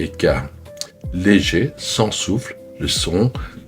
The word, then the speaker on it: ㅋ: Kyok, le son de base entre G et K. Léger sans souffle le son plus neutre des trois. K le son aspiré un cas fort avec un souffle d'air prononcé.